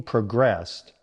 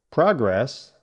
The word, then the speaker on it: progress: As the meeting progressed, we reached an agreement. Your turn. You hear that difference, right? Progress, noun. Progress, verb.